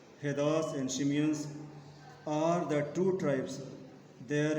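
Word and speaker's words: Tsimshians: T is silent. Be very means careful, children. T is silent here. It is called Shimians. Heddas and Shimians are the two tribes there in North America.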